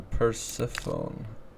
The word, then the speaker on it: Persephone: It's pronounced Persephone. Persephone. Who are you calling a phony?